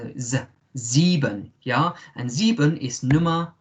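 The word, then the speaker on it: sieben: is good um remember in german the s is like a zed za zeeban yeah and zebun is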